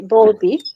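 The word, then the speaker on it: Bowlby: definition by John Balby BBY let me say Balby because it's spelled as B and then B by uh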